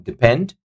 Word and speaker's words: depend: Number four, depend. Depend. Depend. So second syllable is taking the stress on.